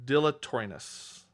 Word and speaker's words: dilatoriness: for its dilator uh dilatoriness. Ah, I should be familiar with that word, dilator. Dilla. Dilla. Nope. That's not how you spell it. Dill. Uh, no, not dilly. Dillator. Dilatoriness. Right. Dilatoriness.